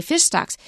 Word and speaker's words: fish stocks: here so fish stocks it's a compound so we say fish stocks if you say fish